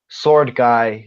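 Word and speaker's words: Sword Gai: which I should clarify it's spelt G sword G AI as in cuz guy is the name of one of the characters I thought it was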